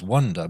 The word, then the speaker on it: wander: Now, the other word, which sounds the same, is also pronounced wonder, but it's spelt with an A.